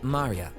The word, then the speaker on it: Maria: Of course, is pronounced Maria.